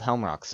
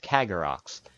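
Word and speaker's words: Kargaroc: of those bird enemies they're not called ham rocks are called CagA rocks I am sorry about that I've been mispronouncing their name this entire time also there's mob loads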